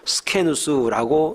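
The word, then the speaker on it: σκῆνος: 이 장막집은 헬란말로 스케누스라고 이렇게 발음을 합니다.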